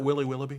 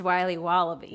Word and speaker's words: Wiley Wallaby: Can I have a piece of that Willy Willoughby? Wally Wibbly. Wiley's Wallabies. Wallaby Wallies? Wilby Wobbaby? It's pronounced Wiley Wallaby.